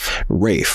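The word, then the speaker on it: Raef: How you pronounce it one more time? Say it nice and loud for the people to hear. Rafe, okay.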